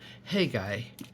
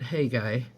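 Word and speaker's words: Haggai: a little bit out of the book of hey guy and it's spelled h-a-g-g-a-a-i just a short little book of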